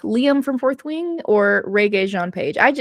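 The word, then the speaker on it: Régé-Jean Page: from fourth wi or ree Jean paage I I think I'm mispronouncing sorry everyone I think I said re before I think it's regay so ree John Paige um who' be the best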